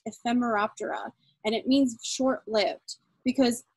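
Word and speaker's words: Ephemeroptera: is reflected in their latin name which is pronounced ephemera opera and it means short-lived because these animals when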